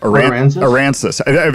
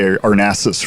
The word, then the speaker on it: Aransas: Aransas. I was saying I always want to say Arnassus for some reason.